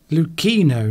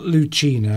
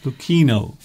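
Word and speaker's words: Luchino: Lucchino, not Lucchino. Oh, did I? Okay, Saturino then. Said it's the CH is pronounced like a K. Lucchino. Lucchino.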